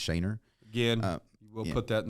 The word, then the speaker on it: Schoener: my personal instagram is a j-s-c-h-o-e-n-e-r yeah it's pronounced shayner again we'll put that in the show notes